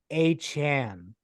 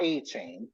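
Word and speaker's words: Achane: his name Matt uh a Chan Devin achan right yep confirmed aan not achain man is on fire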